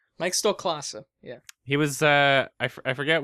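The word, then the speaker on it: Stoklasa: Stoloska, Red Letter Media guy. I never learned how to pronounce his Really? last name. Mike Stolklasa, yeah.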